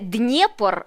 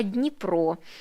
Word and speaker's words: Дніпро: не Харков а Харків не Днепр а Дніпро і не Одеса А